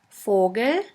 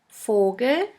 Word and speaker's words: Vogel: V is pronounced like the F in the word for. In German we have the word Vogel, Vogel, which means bird.